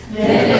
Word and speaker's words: Minich: Her name is Miss Minich. Which rhymes with spinach.